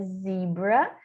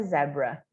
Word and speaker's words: zebra: E isso também muda a pronúncia da palavra zebra, que em inglês americano é zebra, e no inglês britânico é zebra, por causa do Z e do Z, tá?